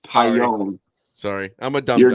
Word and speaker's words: Taillon: Talon is how it's spelled. It's pronounced Tyone.